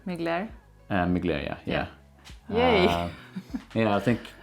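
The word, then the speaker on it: Mugler: muse from mcglair did i say it right migler um mcglaria yeah yay yeah i think i think first time ever yeah i think in one of the first videos you said muggler or something like that i'm not sure what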